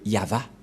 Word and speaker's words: Yahvah: nous voyons bien ici que il a bien prononcé le nom de du Dieu de Dieu yava où il est passé 21 33 que nous